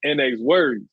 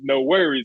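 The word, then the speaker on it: NxWorries: I was saying NX words. Like I wasn't pronouncing it as no worries. I'm like NX words, and that's how I was pronouncing it.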